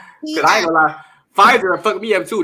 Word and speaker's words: Pfizer: Don't y'all mess with that Pfizer. It got some silent letters up in it.